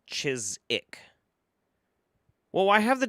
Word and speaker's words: Chiswick: Uh English place name Chiswick pronounced Chisik. Yeah, it's like c h i s w i c k. Chiswick, but it's chisic.